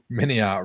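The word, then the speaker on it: MiniArt: Jim says, "Mini art rhymes with multi-part."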